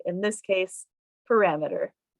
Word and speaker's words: parameter: to say your word correctly in this case parameter